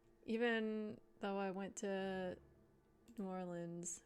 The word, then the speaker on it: New Orleans: Um, I haven't had gumbo before, even though I went to New Orleans or Norins as the locals say.